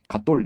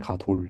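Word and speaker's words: גָּדוֹל: 그러니까 갓돌 이렇게 발음하지 말고 부드럽게 가돌 이렇게 하지.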